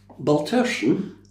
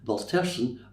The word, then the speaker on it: Baltersan: Baltersan, now, please note the pronunciation. Baltersan rhymes with person. Easy to remember. It's a Gaelic name meaning cross standing of a farm at a crossing place. Baltersan was built in 1584